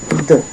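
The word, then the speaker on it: deux: So once again in English it's two and in French it's duh duh like duh not duh I know I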